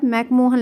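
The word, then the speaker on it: McMahon: वैसे हम मैकमोहन बोलते हैं अपनी भाषा में, वो एक्चुअली में क्या है? तो मैकमोहन जो है, मैकमीहोन असलियत में उसका प्रोनाउंसिएशन है, पर हम लोग मैकमोहन बोलते हैं, कोई बात नहीं, मैकमोहन लाइन, ठीक है।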